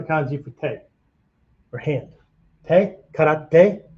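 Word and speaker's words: 手: Te, karate, right? Just other pronunciation for te is shu.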